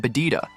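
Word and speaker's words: ベジータ: In Japanese, Vegeta is pronounced with a B sound instead of a V, resulting in bada.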